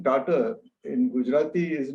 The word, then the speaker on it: Tata: not the real name Tata is not pronounced as t-a-ta it is you know for which you don't have the right answer but I think all right in English it becomes daughter and Tata means pepperish